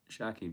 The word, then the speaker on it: Shakib: Don't say Shakib. Just say Shakib. No T in front. No T in the front.